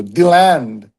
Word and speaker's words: DeLand: The common local pronunciation focuses on the land. So, DeLand.